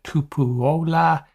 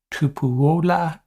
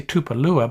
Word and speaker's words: Tupuola: Zion Tupuola Fetui. You want to say Tupalua, but I do not think that's the right pronunciation.